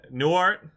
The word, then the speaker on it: Newhart: Newhart?